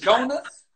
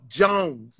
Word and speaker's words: Jones: Jones, is it Jonas? Jonas? No, Jones. J-O-N-E-S. Like me and Mrs.